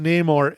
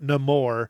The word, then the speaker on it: Namor: And it is pronounced Namor. It is not Namor.